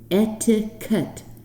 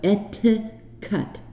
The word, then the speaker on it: etiquette: So in English, to pronounce it properly, we say etiquette. 3 syllables, with a T like tango, etiquette.